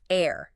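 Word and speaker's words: heir: Air.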